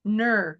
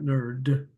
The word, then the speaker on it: Nur: She says here, Nur. She's got it in brackets, Nur. Okay. Nurzamo or something. Nurzamo, I think is how you say it, but I just have been addressing her as Nur. Mhm. Not nerd.